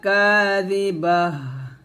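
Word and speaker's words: كَاذِبَةٌ: লাইসা লিওয়াকাআতিহা কাযিবাহ, কাযিবাহ, কাযি জাল সে দি পাতলা করে উচ্চারণ করবেন। অবশ্যই জিহ্বাটা নিচে দাঁতের সাথে লাগাবেন না, জিহ্বাটা উপর দাঁতের আগার সাথে লাগাবেন।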